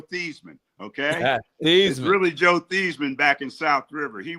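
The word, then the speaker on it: Theismann: So he changed his name from Theman to Thyman to rhyme with Heisman.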